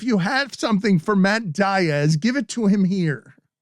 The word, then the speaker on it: Diaz: for example there's like players that have very obviously hispanic-sounding names but choose to not pronounce it that way and i'm like listen guy pronunciation guide here davey lopes yeah davey lopes matt diaz looking right at you it's diaz okay let me tell you